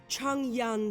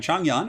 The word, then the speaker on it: Zhang Yan: So yes, we're going to be doing Changyan, which I believe is how you pronounce his name.